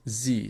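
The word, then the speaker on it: Sie: we mix these two together we're gonna get Z so S Plus IE it's going to be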